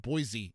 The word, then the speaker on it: Boise: 5:30 tonight, Boise State, or sometimes you pronounce it Boise State, at South Florida, 5:30.